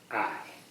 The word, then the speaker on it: Ai: Pronounced I. Rhymes with sky. Rhymes with sky. It says that? Yes. Biblical city, pronounced I. Rhymes with sky.